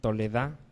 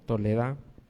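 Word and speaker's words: תולדה: La palabra regeneración, una palabra hebrea que se pronuncia toledá, con H al último, toledá.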